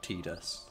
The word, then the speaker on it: Tidus: I still love as well the official pronunciation's like Tidus. Are you okay? No, but it's like tide like Yeah. the tide.